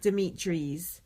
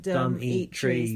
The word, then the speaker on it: Dimitris: So, and also I heard the final confirmation of how you pronounce Dimitris is... Oh, really? Dimitris. From Dimitris himself. Yeah, and it's what it said on his T-shirt. Dumb eat trees. That's how you say it.